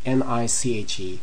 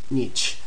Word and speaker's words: niche: Many people pronounce it niche, like we have here in the vignette, but a lot of people also pronounce it niche. Both are correct. There's no problem with whichever one you choose.